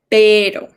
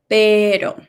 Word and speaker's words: pero: How does that letter T sound? ¿Cómo suena esta letra T? Water. Okay, let's use that sound to pronounce pero. Okay, pero, como water, pero. Okay.